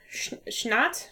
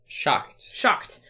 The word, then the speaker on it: Schacht: It's designed, all of those games are designed by Michael Schnatt. How do you say it? It's German. Schacht.